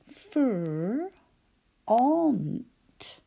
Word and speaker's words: front: a funny word because we can hear fr, unt. You might like a spelling language. Fr, ont, because that's how we spell it. Fr, ont. But we say front.